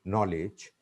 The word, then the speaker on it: knowledge: Or N, starting with N, but starting with K, but K isn't pronounced. For example, ni, no, knowledge. That's why here, my point